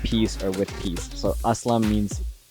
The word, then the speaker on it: A-Slam: or with peace so aslam means like with peace and then a slam is like a western pronunciation of it but also like in